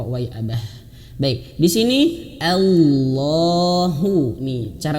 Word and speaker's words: Allah: Maka Allah, Allahu, dan Allahnya di sini tebal. Kenapa tebal? Sekali lagi, karena Allahnya ini ya, di belakangnya ada huruf yang berharokat fathah. Ya, fathah atau domah misalkan. Ini fathah, maka tebelkan. Bukan Allah ya, bukan Allahu, bukan, tapi tebelkan.